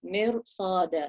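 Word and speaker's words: مِرْصَادًا: So even though the Ra sukoon has a meen kasra before it, but we're going to lift up the sound of the Ra because of the sad that's come after it. Mirsada. So if you check that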